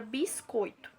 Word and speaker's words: biscoito: aqui ao lado, que essa palavra ela tem 3 sílabas, mas apenas uma sílaba dessa palavra ela é pronunciada com uma força maior. Essa sílaba que é mais demorada, que é uma sílaba mais forte, nós chamamos de sílaba tônica, que no caso é o coi, certo?